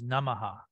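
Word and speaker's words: namaḥ: And this, when you say namah, is that breath, namah, or sometimes namaha.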